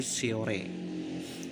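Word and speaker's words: Shorea: Contoh tulisan Sehorea maka diucapkan sebagai Siore.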